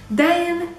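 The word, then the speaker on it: دَين: Dain, even though it's written the same, it means debt.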